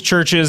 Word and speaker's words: CHVRCHES: I know it's pronounced churches.